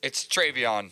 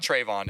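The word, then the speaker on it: TreVeyon: It's Travion. Travion. It's not Trayvon.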